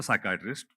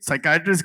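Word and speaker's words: psychiatrist: जावेद यह साइकेट्रिस्ट की बात अगर किया इसमें तो व्हाई इज द P silent in साइकेट्रिस्ट?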